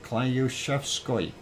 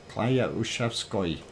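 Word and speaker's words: Klyuchevskoy: So Klyushevskoy. Just after I finally figured out how to say it, it's actually Klyaushk. Because the Y actually is a ya sound. So Klyaushevsky. Skoy. Klyaushevskoy.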